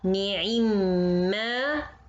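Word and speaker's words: نِعِمَّا: Ni'imma ma. Meme fatha followed by other meme fatha in the next word. To make it easy in pronunciation, we say it ni'imma.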